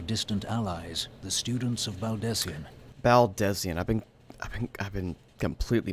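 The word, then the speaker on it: Baldesion: It doth concern our distant allies, the students of Baldesian. Baldesian. I've been completely mispronouncing that name then. Baldesian.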